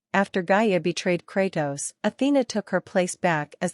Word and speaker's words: Athena: his past Greek mythology Athena also pronounced athene also referred to as